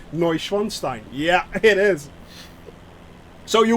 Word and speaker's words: Neuschwanstein: wanted to hear it the actual pronunciation of neuschwanstein is actually castle neuschwanstein yeah it is so